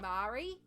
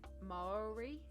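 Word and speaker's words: Māori: Mayo motto ma pre so I grew up just saying Mari like that um but it's not and I had to train myself to think of it more like saying moldy like bread but it's mole my Maori I'm really bad at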